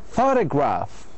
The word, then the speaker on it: photograph: Photograph. So we stress the first syllable usually.